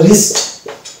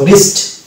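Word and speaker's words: wrist: সালে থাকে যাবে এবং এটা হচ্ছে চলে যাবে রিস্ট আর এ র আই এ অবশ্যই এস এ দন্ত স এবং টি এর ট এ যুক্ত রিস্ট তো ডিয়ার স্টুডেন্টস এখানে আমরা দেখতে পাচ্ছি শব্দের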